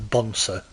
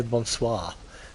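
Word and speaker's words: bonsoir: So, we want to keep I like how she can't pronounce Bonsswis. She's not very French, this uh narrator lady, is she like bonsa? She can't say bonsois. Not very French, is she?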